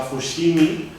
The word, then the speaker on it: Fushimi: XVII, como Meako, Kioto, Fujime, o sea, Fushimi, que este topónimo además pues, muestra la todavía pronunciación prepaletal fricativa, la sh, de lo que luego sería el sonido velar que se asocia a las letras G, J y X, ¿no?